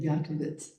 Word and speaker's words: Yakovitz: So under, I'm going to mispronounce it, Yakovitz. Is that the pronunciation that? I'm sorry. That's it.